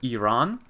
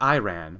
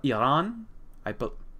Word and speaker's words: Iran: I think you pronounce it Iran, not Iran, but Iran.